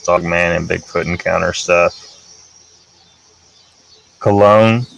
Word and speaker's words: Colon: Cologne. Okay. Yeah, sorry, that was a very unfortunate pronunciation there. Nikki Cologne.